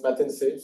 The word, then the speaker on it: Matense: It's Matense, so just don't forget in Arabic.